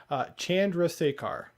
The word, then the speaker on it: Chandrasekhar: Chandrasekhar.